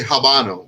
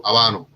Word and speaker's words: habano: my second so um i don't say habano i i rarely do i go abano you know a nice abano rapper you know because again the age is silent um i i like